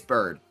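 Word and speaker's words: Byrd: an absolute start bird I keep calling a buer to bird but I think ber would be like Kevin ber in the NFL it is bird it's just spelled with a Y instead of an I um yeah I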